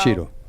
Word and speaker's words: Ciro: Cheeto. Yeah, that's how it's pronounced in Italian, right?